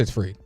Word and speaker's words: Fried: Fried? I want to say it's Fried. It's Fried. Okay, making sure I'm not mispronouncing it.